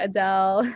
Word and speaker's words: Adel: named after the singer Adele. And then I tell them, no, it's actually pronounced Adel, and this is, what it means.